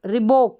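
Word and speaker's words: Reebok: फिर है RE और BO के बोक, रिबोक, इस तरीके से हम पढ़ेंगे, रिबोक, क्या पढ़ेंगे इसको, रिबोक।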